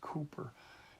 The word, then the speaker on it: Cowper: But it's spelled Cowper, but it's really pronounced Cooper.